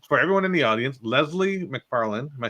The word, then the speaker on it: Leslie McFarlane: So for everyone in the audience, Leslie McFarlane, am I saying it right?